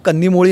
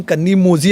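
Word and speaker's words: கனிமொழி: spelling Z लिहितात तिथे अनेक लोक कन्नी मोळी यांचा स्पेलिंग कन्नी मोझी असं ते वाचतात लोक पण ते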